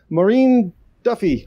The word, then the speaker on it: Máirín Duffy: to another episode and with us we have maureen duffy or color because it's easier for me to pronounce uh hey could you but you